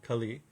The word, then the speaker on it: Kali: demon and the demon's named Kali not Kali as the goddess Kali Kali the short a short i kali um and so